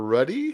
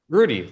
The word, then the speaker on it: Ruddie: Is it Rudy or Ruddy? How do I pronounce that properly? Rudy, like uh like the movie, like Notre Dame.